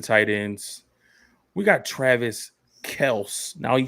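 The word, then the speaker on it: Kelce: ends we got travis kels now he said his name is last name is pronounced kels but he will respond to kelsey so everybody knows him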